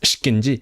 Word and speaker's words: ikinci: Again, I need to get used to how it is written iki, like two, the number two, or the second in like Turkic languages is ikinci, but it's pronounced shkinji söhbet.